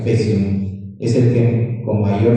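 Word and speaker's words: faecium: Oum se escribe, pero se pronuncia fesium, es el que con mayor frecuencia resistente a la bancomicina.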